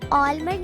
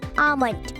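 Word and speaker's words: almond: American और British कहीं भी चेक कर लें, आपको कहीं भी आलमंड नहीं मिलेगा। एल तो मेरे ख्याल से इन लोगों ने फिजूल में ही डाल दिया है, इट्स आमंड। इट्स आमंड।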